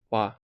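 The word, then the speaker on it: 和: Speaking of harmony, in Japanese language it's pronounced wa.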